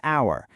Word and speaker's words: hour: If the H is totally silent, like in the word hour, we actually break the consonant rule and use an instead.